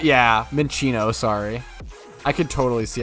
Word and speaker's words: Minccino: naming them Kratos is pretty funny I heard men shot yeah Minccino sorry I could totally see how I could mispronounce it or say it make it sound